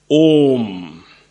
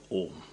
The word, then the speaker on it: Om: I told you all om represents three syllables or three letters uh U and M uh at the throat U at the lips M when you close it and all your